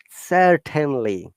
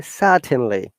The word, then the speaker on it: certainly: because british english or british pronunciation is non-rhotic we don't pronounce r in most of the cases especially when the r